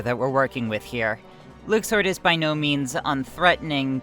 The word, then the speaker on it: Luxord: We accepted that Luxord was the obvious pronunciation. Easy, right? Well, Nomura hates us, so in KH3, they drop a huge bomb, and his name is actually Luxord.